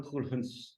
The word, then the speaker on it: Khuldune: Writer and journalist खुलहन साहब। मैंने आपका नाम लगता है सही प्रोनाउंस किया, इफ आई am sorry to से अगर नहीं प्रोनाउंस किया होगा। खुलहुन साहब, खुलहुन साहब बिल्कुल सही।